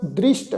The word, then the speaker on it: दृष्ट: मत पूरी अमृत जा की दृष्ट, दृष्ट ससे पैर बिंदी लगा के पाठ उच्चारण करना है।